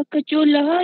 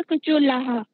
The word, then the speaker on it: कचोलः: महोदया, जो कचोला ऐसे महोदया, उसका उच्चारण कैसे होगा? कचोलह या कचोलाह? नहीं, कचोलह, लह।